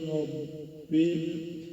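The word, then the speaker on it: رَبِّ: Alhamdulillahi rabbil ra dibunyikan secara tafkhim karena berbaris di atas fathah. Matnya tebal, pangkat lidahnya diangkat ro.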